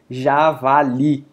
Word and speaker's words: javali: A mesma coisa acontece com javali. Li, sem dúvida, é forte aqui, só que não termina em uma dessas letras aqui de cima, certo?